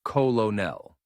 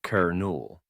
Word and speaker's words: colonel: Looking at the spelling, you might think it's colonel, but the actual pronunciation is kernel, just like the part of a popcorn. English borrowed this word from French and the spelling never caught up with how we say it. If you're talking about a military rank, say the colonel gave an order. And remember, it rhymes with journal.